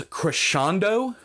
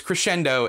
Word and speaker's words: crescendo: so bad at it this author pronounced crescendo as creshando um i checked google uh the pronunciation there i checked videos pronunciations and it was crescendo every single time both american and uh british english another one was ethereal